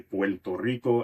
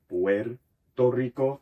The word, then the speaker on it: Puerto Rico: That becomes a L sound. So Puerto Ricans will famously say Puerto Rico instead of Puerto Rico.